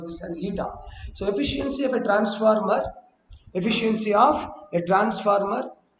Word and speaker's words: eta: This symbol is this symbol will be is pronounced as eta. You have to pronounce this as eta.